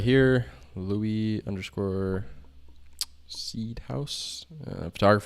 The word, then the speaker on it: Louis: louis is this version is this pronounced lewis or louie alicia l-o-u-i-s is that louis or lewis it is louie l-o-u-i-s louis i think it could be both maybe i don't know